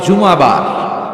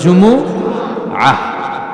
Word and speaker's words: জুমুআহ: আসলে আরবিতে শুদ্ধ উচ্চারণটা হচ্ছে জুমুআহ, সূরাতুল জুমুআহ।